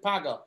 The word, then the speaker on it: Paga: ob can you tell me how that is pronounced p-a-g-a is it paga yes i am very right paga now watch